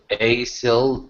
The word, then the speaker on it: aisle: Now run down the aisle and let go.